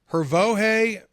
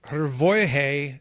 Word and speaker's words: Hrvoje: The J is pronounced like a Y, so it's kind of like Kanye. Yay. Okay. Hrvoje.